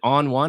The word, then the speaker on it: Oni: I call it Oni how the hell do you even pronounce it is it on one or Oni it is Oni so there's been a